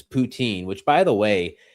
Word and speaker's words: poutine: It's Yeah, it's poutine.